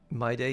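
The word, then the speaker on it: Mydei: My day, yes. M-Y-D-E-I, but it's pronounced like my day.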